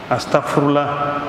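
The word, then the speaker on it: أستغفر الله: la mère de tous les X faut bien prononcer astarfoullah c'est la mère de tous les il faut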